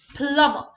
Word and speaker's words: plumber: Letter B is silent here. Also, the last letter R is silent. It's plumber.